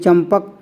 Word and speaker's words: चंपक: भी देख सकते हैं चंपक इस अनुस्वार के बाद में यहां प आया है और पा वाली लाइन में ही मा आता है ठीक है पा फ ब भा म तो अब इस अनुस्वार का उच्चारण जो निकलेगा वो मा निकलेगा क्यों क्योंकि इस अनुस्वार